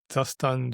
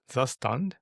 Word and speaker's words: Zustand: Well, yes, by the way, I call it Zastan, Jotai, and Vio. But anyway, wait, what? How's the normal pronunciation? And I'm not sure if it's normal, but what I pronounce is Zastand Jai.